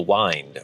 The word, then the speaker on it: Wind: the Wind, would recognize that the Y is pronounced like a long I, as in wind my watch. So I think I've said Hall of the Wind several times too, rather than speaking it with a short I, as in the wind that blows.